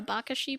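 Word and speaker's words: abacaxi: i remember correctly i think it's pronounced something more like a a bakashi probably something like that okay okay um and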